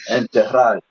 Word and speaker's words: enterrar: Enterrar would Like, be correct then.